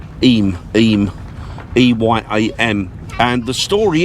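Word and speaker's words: Eyam: a village in Derbyshire called iam or M he pronounced it aim aim Pym and the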